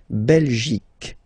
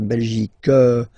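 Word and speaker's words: Belgique: in French okay okay La belic okay remember here you will get only the sound C okay belic belic so it's not belg not at all okay because it's only the belic okay Denmark so same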